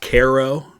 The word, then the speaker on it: Cairo: to the Mississippi below Cairo here another significant common mistake uh it's actually pronounced Koo um even though Cairo is what we call the city that is spelled that way in Egypt that I was just